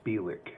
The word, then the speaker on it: Bielek: Yeah, so the way you pronounce his name is Bielek.